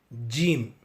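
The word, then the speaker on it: جيم: இந்த ஸ்லைடின் மேல் பகுதியில் உள்ள எழுத்து ஜீம். ஜீம். ஆங்கில எழுத்தான ஜே எப்படி உச்சரிப்போமோ அதே போல் உச்சரிக்க வேண்டும்.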